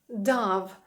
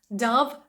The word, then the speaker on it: Dove: і всі плями зникли дав Саме так воно читається Тому що тут є літера V Як ви думаєте що це